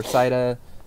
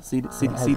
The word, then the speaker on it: Cydia: We'll be reviewing all the stuff for Cida and... Cydia? Cida? Cydia. Have you found an official pronunciation?